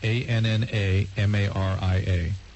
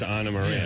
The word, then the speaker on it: Ana Maria: ANNAMARIA. Ana Maria. Right. Right. Ana Maria. Right. What's wrong with that? That's what I'm asking. She says Ana Maria, not Anna Maria.